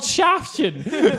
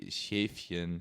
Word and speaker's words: Schäfchen: Why is he called Shaftchen? Like none of this is good. I'm sorry, Kieran. I want to correct your German, pronunciation. It'd be Schäfchen.